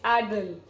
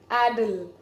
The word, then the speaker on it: addle: that's that's not the way of saying it's addle addle the thumb goes back and you say a